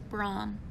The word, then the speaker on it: Bram: Not many people know this, but Bram is actually correctly pronounced Brahm.